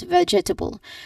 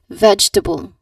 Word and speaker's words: vegetable: Um they say it incorrectly by saying it as vegetable. But yes, we know we understand that this word is pronounced as vegetable. again vegetable.